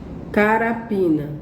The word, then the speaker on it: carapina: Carapina. Olha. Carapina. Onde foi que tia Sol falou mais alto? Esticou mais a sílaba? Carapina. Então foi no pi.